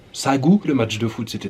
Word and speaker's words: Sangu: ce village de sagou ça s'écrit sans de goût mais visiblement ça se prononce sa gauche le match de foot